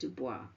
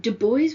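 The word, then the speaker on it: Du Bois: name would be pronounced Dwis, but Dubo was writing about race and power. And so he chose to use, I guess, a more, if you like, Americanized version of his name.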